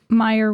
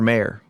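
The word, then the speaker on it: Mayer: what the jingle says nope it's Oscar mayor it doesn't sound like the jingle Oscar mayor m a y e r but do they pronounce it Meer see I think they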